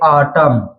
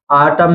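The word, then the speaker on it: autumn: है जैसे जैसे जैसे आप देख सकते हैं आटम आटम में एम एन साथ में आया है तो यहां पर एम एन में एन साइलेंट रहेगा आटम इसलिए यहां पर आटम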